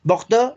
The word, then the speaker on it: Bordeaux: Bordeaux. No vamos a empezar a hablar, porque nada más tenemos 10 minutos y ya hasta donde llegue, porque si no, no vamos a avanzar. Bordeaux en francés, Burdeos en español.